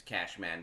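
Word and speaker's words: Kashman: Well, you can hit it's Cashman, but it's spelled with a K.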